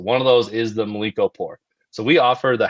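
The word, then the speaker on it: Mlíko: I don't know how to correctly pronounce it. Milkland pour. Do you do that? Oh, Mliko.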